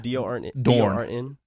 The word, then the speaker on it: Dorn: Before we started bashing the Rangers, maybe Bill Dorn. Okay, that's a name that you guys probably don't know. He was a second baseman back in Dorn. You said D-O-R-N.